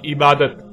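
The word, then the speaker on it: عبادة: اور جب عربی لہجے میں اس لفظ کو پڑھا جاتا ہے تو تیز ساکت ہو کر ہے کی آواز میں بدل جاتی ہے، یعنی اسے عبادہ پڑھا یا بولا جائے گا. عربی کا لفظ عبادہ جب اردو میں شامل ہوا تو اسے عربی کی بجائے اردو لہجے میں تے کے ساتھ بولا گیا اور بولا جاتا ہے، یعنی عبادت.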